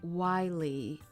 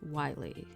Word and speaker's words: Wiley: Okay, so it's Wiley. Okay, sorry, because I was like, I didn't know how to say it. Wiley.